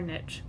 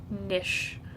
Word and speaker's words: niche: until we find our niche by the way I've looked it up in Webster's dictionary that it is pronounced niche or nish nish but I call it niche which is a current